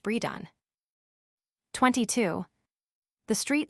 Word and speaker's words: Bredon: One pronounced Bredon.